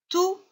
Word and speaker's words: tout: Tout. Attention, ici, il y a le T qui est muet. Donc, ça ne se prononce pas. Je lis tout.